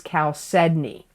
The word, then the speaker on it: chalcedony: where in the month of November 2022 is Cal Sydney Cal Sydney is spelled I'm going to spell it because people always ask me to spell it c h a l c e d o n y chalcedony it's a nurturing Stone chalcedony promotes Brotherhood